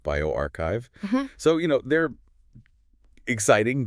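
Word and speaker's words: bioRxiv: Some are published, others are fresh preprints on platforms like Biorox Sev that's pronounced bioarchchive.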